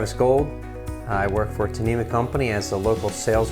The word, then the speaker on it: Tnemec: Well, you pronounced Tnemec correctly, which is a rare thing in general. So yes, Tnemec.